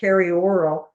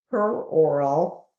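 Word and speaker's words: peroral: i got it because i want to say perioral but that is of course the the mouth and it's per oral let me just like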